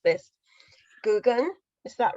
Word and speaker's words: Geoghegan: I knew I wasn't going to be able to pronounce this. Geoghegan, is that right? Geoghegan. No, it's Geoghegan, but it doesn't matter.